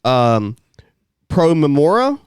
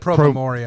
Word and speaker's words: Pro Memoria: Pro Memora. Mm-hmm. Is that how it's pronounced? I've always said Pro Memoria. Pro Memoria, Pro for the Memoria. sake of memory Yeah. in Latin.